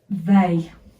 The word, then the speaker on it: they: Because the Y is silent because we don't put the lips forward, but there's an E there. But we say a, they.